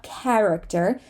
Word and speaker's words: character: Character, not character, but character. The way I pronounce it is with an E. Character. Some people say character, which is also totally fine.